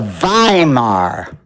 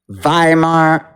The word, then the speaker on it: Weimar: its own business to stop the Vimar ideology. Vhimar ideology not against democracy. The Vhimar ideology.